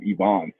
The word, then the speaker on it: Ivans: Yeah, so funny enough, it's pronounced Yvonne, right? Ivan's is the English adaptation.